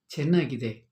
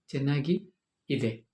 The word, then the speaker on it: ಚೆನ್ನಾಗಿದೆ: And how to say it is good? Chennagide. Chennagi ide. Okay?